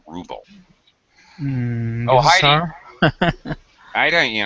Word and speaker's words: ruble: talked to Russian students the way they pronounce it in Russian sounds like rubble in English we always say ruble